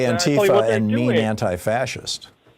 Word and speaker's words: Antifa: Yeah, it's uh the correct correct pronunciation is Antifa. It's two words.